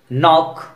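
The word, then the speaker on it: knock: अब देखिए के एज a silent letter, no, knowledge, knife, नॉक, knee, night, नील, इनमें देखिए एक तरह की समानता है और के और एन एक साथ है, इस तरह के वर्ड में के साइलेंट रहता है।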